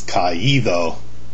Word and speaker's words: caído: accent in the participle in order to maintain the integrity of the sound of the participle suffix. For example, caer becomes caído. Notice the accent on the I.